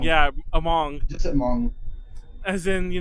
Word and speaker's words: Hmong: It's just Hmong. Yeah, it's the H is silent.